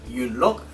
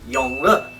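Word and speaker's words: Yonghua: an emperor in Mandarin pronounced not you look but Yong Hwa which I like because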